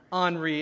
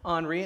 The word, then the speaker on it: Henri: I called it Henry until I realized I was pronouncing it wrong. What is it? Henri, it's the French pronunciation of Henry, right? Henri, and so I'm watching